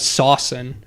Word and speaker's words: S7N: But like he would pronounce that as Saucin.